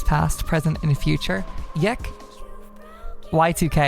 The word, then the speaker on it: YIIK: present and future yek Y2K as it's pronounced but yek is the